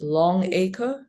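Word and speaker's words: Longaker: I guess you pronounce it as Longacre.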